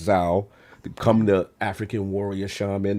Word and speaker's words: Zau: So for me, Tales of Kinsera of ZAU, I pronounce Zao, come the African warrior shaman.